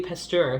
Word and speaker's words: Pasteur: figure out, healing for the world, including Louis Pasteur, who was like quite a hero in like France at the time.